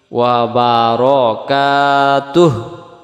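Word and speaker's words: وبركاته: এখানে যদি হু বলি দম ছাড়া যাবে না, দমটা ছেড়ে দিলে ওয়া বারাকাতুহ, তুহ এমন হবে।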